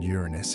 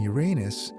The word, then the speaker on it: Uranus: Astronomers prefer the stress on the first syllable largely because the alternative sounds like something else and both are formally acceptable.